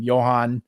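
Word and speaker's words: Jhoan: jorge alcala and i don't know how to pronounce his name johann duran yeah yeah johan's correct yeah so trader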